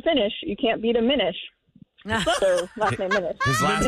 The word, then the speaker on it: Minish: Minish. Not finish. Well, Minish is fine. Minish. So, do people mispronounce that? I can't imagine they do. Are they saying Minish? But how do you think you gotta say, here comes sometimes the Minishes? They'll spell it with two N's, like fin, like. Yeah. Like finish. Yeah. Minish, finish. Minish.